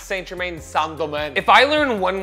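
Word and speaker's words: St-Germain: so impressed i just recently learned that it's pronounced sangoman that's what i've been told it's pronounced sandomen who the fuck pronounces saint germain sanderman if i learn one more thing in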